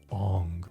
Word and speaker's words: Aang: movie deeper in reality, since Ong is supposedly how actual Asians would say it.